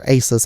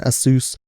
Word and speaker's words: ASUS: ever had I had an ax sous or asus I like saying asus better than a sous even though they came out with a video